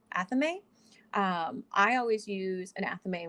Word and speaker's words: athame: aries leo and sagittarius wow i made that pronunciation weird tools include the wand or the athene athame i always use an athame when i'm working